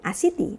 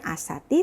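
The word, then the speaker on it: עָשִׂיתִי: Ani asiti. Nah, agak berbeda, bukan asati tapi asiti.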